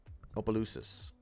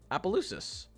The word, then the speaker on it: Opelousas: Looking at Opelousas.